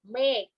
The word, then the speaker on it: เมฆ: ตัว สะกด นะ คะ คำ ว่า เมฆ ไหน ลอง ออก เสียง คำ ว่า แม่ กู ซิ หมอ เอง ก็ เมฆ ออก เสียง เหมือน มี กอ ไก่ เป็น ตัว สะกด แชร์ นะ คะ แต่ เวลา เขียน จริง ๆ ใช้ ฆระฆัง นะ คะ เพราะ ฉะนั้น นอก